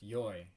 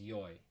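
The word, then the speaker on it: よい: which is good and it can also be pronounced yoy and that's important to note here because we're gonna focus when we make the negative of e we can only use yoy and i think it's because of the way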